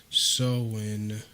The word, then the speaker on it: Samhain: This is the Celtic holiday called Halloween, originated with the ancient pagan festival pronounced Samhain, when people would light bonfires and wear costumes to ward off spirits.